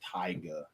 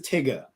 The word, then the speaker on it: Tyga: the guy he said as Tyga it's not pronounced Tyga his name is Tigger t-y-g-a his name is Tigger not Tyga I